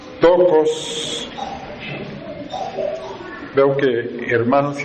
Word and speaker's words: Theotokos: Esta palabra se escribe con T lo que conocemos comúnmente también después de la T, la H muda, E, O, T, O, K de kilo, O, S.